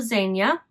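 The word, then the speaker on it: Zegna: sport coat ARA gildo Zena my understanding is that's how you say it Z GNA a is Zena it's Italian Armena gildo Zenia cloth and I have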